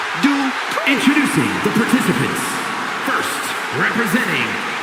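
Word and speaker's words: Maxxine Dupri: Michael, it's pronounced Dupree.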